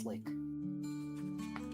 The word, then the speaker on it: SLQ: The Navy SLQ is pronounced slick.